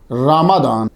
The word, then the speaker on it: رمضان: समझ आ गई आपको रमादान हम नॉर्मली रमजान बोल देते हैं वो चलता है उर्फ़ में जो है लेकिन आप लोग जो है वो जरा भी ये भी ज़हन में रखा रखें असल प्रोनाउंसिएशन क्या है? रमादान कमरी साल के नवे